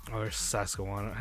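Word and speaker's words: Susquehanna: is actually Julio's little from SAS Quanah University SAS Quanah that's how you pronounce the university name you wanna what is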